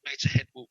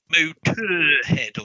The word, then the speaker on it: Motörhead: Because it's almost impossible to pronounce if you actually pronounce the umlaut. Motörhead or something. And it doesn't quite work.